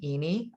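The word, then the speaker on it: Iny: area of courses is a fellow named danny eeny i-n-y is the way his last name is spelled with the company miracy m-i-r-a-s-e-e and um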